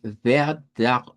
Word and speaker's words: Vertrag: En este caso, vamos a ver nuevamente una palabra que comienza con V, que la vamos a pronunciar como Verg, con R uvular. Luego, Vertrag, y esta E la vamos a pronunciar como una Shba, como Vertrag, Vertrag.